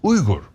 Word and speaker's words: Uygur: Uygur is actually not Uygur. I say Uygur to make it easier. It's Uygur. But if you're an American trying to pronounce Uygur, we're gonna be here for 20 minutes, okay?